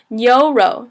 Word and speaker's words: 牛: The next one is 牛肉. So it's 牛肉, second tone, fourth tone. 牛 is kind of pronounced like ni and o, like oh, hit my knee.